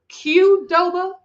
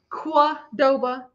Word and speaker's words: Qdoba: Like Qdoba, Quadoba, Qdoba. I just wanted to know. Because a lot of people, because there were like 2 different pronunciations in the car, and we're like, what are you calling it? So, I mean, as an American boy, grew up in Louisville, Kentucky. I will say the Q.